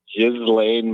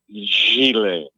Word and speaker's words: Ghislaine: I hear people say Ghislaine Maxwell. Yeah. It's a French name, and it's pronounced Ghislaine.